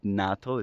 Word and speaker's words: natto: how to pronounce it I'm gonna call it natto it's spelled n-a-t-t-o and basically it's a fermented soybean